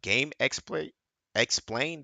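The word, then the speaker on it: GameXplain: Hey, also subscribe to this guy like is by uh game explain.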